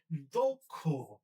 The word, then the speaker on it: দক্ষ: ঠিক একইভাবে আমরা যদি যখন আমাদের দক্ষ লিখতে হচ্ছে এই যে শব্দটা আমরা দক্ষ বললে ভুল হবে। এটা হবে দক্ষ দকার কষকার দক্ষ লক্ষ কক্ষ একইভাবে আমরা পরেরটাতে যাই।